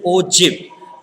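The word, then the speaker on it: ogive: than o game curve it is read as less than o jib and already i gave how it is pronounced it is o j e v less than og greater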